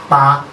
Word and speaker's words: taa: Ta. Here we have 3 which is called ta. It's pronounced as ta in Ogoni. T-double-A.